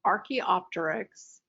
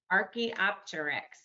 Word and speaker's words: Archaeopteryx: how to pronounce archie archaeopteryx you just pronounce all of the letters as you see them archaeopter yep and